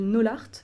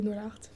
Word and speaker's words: n0lart: Voilà, mais avant ça, je t'avais découverte sur les réseaux sociaux avec ton compte Instagram qui s'appelle Nolart, je prononce bien Nolart, ouais.